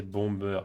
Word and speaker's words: Bombay: Bombay, c'est pas Bombay. Mal écrit au fait. Ça prononcé Bomber plutôt.